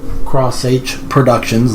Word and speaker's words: xH Productions: do some introductions so this is my new channel cross h Productions that's how it's pronounced what we're going to